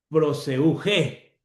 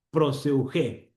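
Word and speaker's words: προσευχή: Proseugé. Proseugé. Ahí te pongo cómo se pronuncia.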